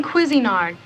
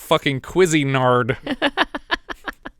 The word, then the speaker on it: Cuisinart: oh terrific a human Cuisinart now I know we've had our disagreements on how to pronounce Cuisinart but I think we could all agree that it's not queasy nard what were you saying